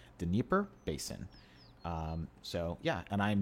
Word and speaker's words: Dnieper Basin: It's Dnieper Basin.